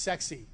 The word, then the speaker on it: CEXC: first is called cexc this is pronounced sexy really is trust me stands for Combined explosives